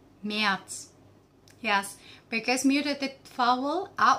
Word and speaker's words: März: January, Januar, Januar, Januar, February, Februar, Februar, Februar, March, März, März, März. Yes, because muted vowel a umlaut, we pronounce it like a, becomes März.